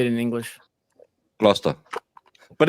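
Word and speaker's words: Gloucester: Gluster, but it's it's when you read like Valhalla who clearly doesn't understand English.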